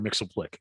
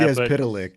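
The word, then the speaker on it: Mxyzptlk: Mixoplick, and I'm sure it's pronounced. I think now it's officially pronounced Mr. Mixoplick or something like that. Mitzias Pitalik.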